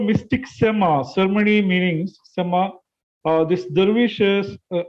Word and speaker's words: sema: So it's called sema. Sema means listening.